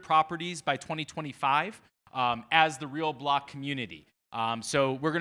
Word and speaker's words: RLBLC: separate um and so the name of the business is real block we don't like vowels uh so it's spelled rlblc don't be confused by that but the real thing